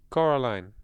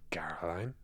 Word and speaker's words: Coraline: They got your name wrong. You know, they kept saying Coraline. Not Caroline. Not Caroline at all.